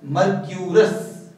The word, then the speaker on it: mercurous: इसको प्रोनाउंसिएशन इसकी देखनी है तो इट is pronounced as मर्क्यूरस।